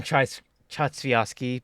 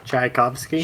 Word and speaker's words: Tchaikovsky: It plays like some Chatsviaski before like dying. I pronounce his name so poorly. Tchaikovsky?